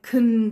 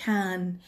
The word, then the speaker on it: can: به عنوان فعل اضافه، دوباره شما صدای ا نمیشنوین، I can go، I can see، we can play. پس تو جمله مثبت و در سوال این کلمه can ا صداش نباید شنیده بشه برای تلفظ صحیح. فقط وقتی شما باید اون ا توی can رو تلفظ کنید که به عنوان جواب کوتاه سوال استفاده بشه.